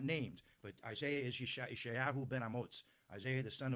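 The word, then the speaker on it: ישעיהו: Now all of you have heard of Isaiah, and some of you pronounce it Isaiah, and in Hebrew it's Yeshayahu.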